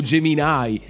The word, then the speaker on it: Gemini: Uno ovviamente era Google Gemini o Gemini, come lo pronunciano loro, che secondo me, al